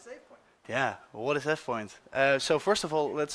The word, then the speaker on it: AvePoint: Yeah, well, what is AvePoint? So first of all, let's start with pronunciation.